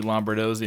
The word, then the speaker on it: Lombardozzi: All right, another episode of Hunt Suburbia, and I'm sitting here with Lombardozzi. That's how you pronounce it, right?